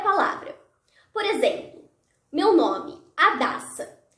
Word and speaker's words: Adassa: Por exemplo, meu nome, Adassa. Para identificar qual é a sílaba tônica do meu nome, eu posso gritar a palavra. Adassa. A sílaba da foi pronunciada por mais tempo.